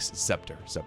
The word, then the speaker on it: scepter: He said scepter, and I was like scepter. C silent, scepter.